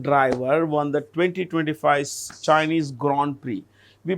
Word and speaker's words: Grand Prix: Which Formula 1 driver won the 2025 Chinese Grand Prix? We pronounce it as GR.